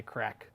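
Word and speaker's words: craic: a0 crack on reddit crack spelled like the Irish they crack crack meaning fun this is called no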